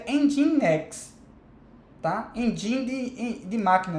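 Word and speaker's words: nginx: são o end x se escreve NG NG e Nx mas para você em next tá em dindin de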